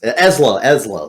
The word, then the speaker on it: Ezlo: It's EZLO. EZLO. Okay, got it. That is from the Historia itself. So it's probably Ezlo. Anywhere else. Ezlo. There you go. Ezlo, whatever.